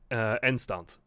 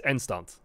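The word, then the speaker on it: eindstand: In Dutch, you'll pronounce this Endstand. Like, the D will become a T. So, because at the end of words in Dutch, D's turn into T's. So it's Endstand.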